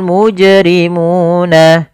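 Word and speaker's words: مُجْرِمُونَ: Kemudian pelafal muna. Di sini ada bacaan mad thabi'i yaitu ditandai dengan dommah bertemu dengan huruf wau sukun. Maka cara membacanya yaitu suara wunnya, maaf suara munya dipanjangkan dua harakat.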